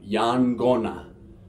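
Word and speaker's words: yaqona: called yang gonna and we see again that q we've got the unwritten end before the Q and it's a hard G sound Yan gonna alright just right here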